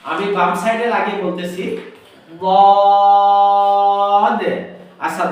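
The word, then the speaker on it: ضاد: আমি বাম সাইডে লাগিয়ে বলতেছি বদ। আচ্ছা, দদ হলে এক হলো মোটা করতে হবে, আরেকটা হলো চার আলিফ টান দিতে হবে, আরেকটা হলো শেষে একটা ধাক্কা দিতে হবে। কেন?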